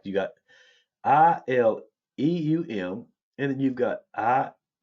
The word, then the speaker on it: ileum: So homonyms are words that pronounce the same way but have different meanings. An example, ilium. You got ilium and ilium, like you got ILEUM, and then you've got ILIUM.